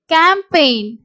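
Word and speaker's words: campaign: அப்படிங்கிற வேர்டுல ஜி வந்து சைலெண்டா வரும் இதை எப்படி உச்சரிப்போம்னா சை இன் சைன் ஜி வந்து சைலென்ட் அதே மாதிரி ஃபாரின் ஃபாரின் இங்கேயும் வந்து ஜி சைலென்ட் கேம்பெயின் பேய் என் கேம்பெயின் சோ இங்கயும் ஜி வந்து சைலென்ட்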